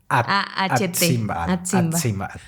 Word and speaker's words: Atzimba: ¿Cómo es? Atsimba. Atzimba. Bueno, Atzimba.